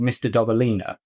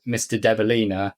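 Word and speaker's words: Mr. Dobalina: Um, and the song is called Mr. Dobelina. And I have chosen that song because half the time I always mispronounce it as Mr. Deilina.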